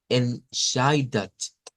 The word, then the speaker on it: entscheidet: Y ahora veamos cómo la SCH en ese caso suena a SH. Miren, entscheidet, Entscheidet es el sonido que vamos a sacar acá.